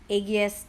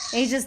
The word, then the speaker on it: Aegis: I remember someone called agas deist or something like that I don't know all right hold on let me go back to my AES de Aegis de is how you say it sorry guys all right